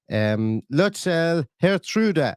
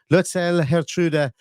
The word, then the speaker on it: Lutsharel Geertruida: linked by Romano today, where he says that Lutsharel, Geertruida, and yes, I did get a Dutch person to pronounce that for me, and I wrote it